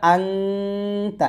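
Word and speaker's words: أنت: তাহলে এখানে আমরা আংতা এরকম উচ্চারণ করবো, আপনার এখানে একটা মুখস্থ করে রাখেন, সমস্যা নেই যে এটা আনতা বলবো না আংতা বলবো, এটার নাম ইকফা গুণ, এখানে গুণনা করতে হয়, এইটুকু মনে রাখেন তাহলেই হবে।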